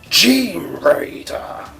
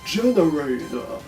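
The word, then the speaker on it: Generaider: I thought your deck was called Gene Raider. So did I, but according to the Yugioh Wyvern Watch, it's actually pronounced Generator.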